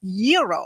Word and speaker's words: gyro: Gyros I order the gyro Supreme suddenly the lady behind me chimes in it's pronounced Euro then the fellow behind her says it's a a gyo I turn my